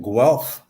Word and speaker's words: Guelph: thanks uh Bruce and thanks for pronouncing Guelph as well like that's a challenge I I found out down at Hive life people really struggle with how to say the word g-u-e-l-p-h um so we started